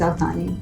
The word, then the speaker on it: Al Thani: you spell it as. My family name is Al Thani, A-L-T-H-A-N-I.